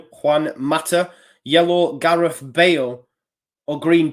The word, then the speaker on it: Juan Mata: Juan Mata. Good Spanish pronunciation, if I do say so myself.